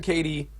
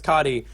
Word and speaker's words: Kati: yeah because before so so Damon said Katie or not Damon excuse me Lucas said Katie Damon says cotti I'm I'm gonna just assume it changes with every designer that will get a different pronunciation well you know it's based off of a real person that I made I I named the card it's cot Lucas however will call